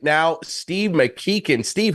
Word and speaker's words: McKichan: Steve McKein. Steve, how are you, man? Good. And you get props for pronouncing my name right.